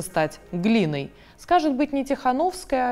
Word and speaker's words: Тихановская: Давайте говорить «Тихановска», а не «Тихановская». На польский манер давайте будем произносить.